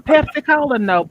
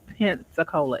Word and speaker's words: Pensacola: was like you from pepsico baby it's called pensacola it's pronounced pen p-e-n and then it was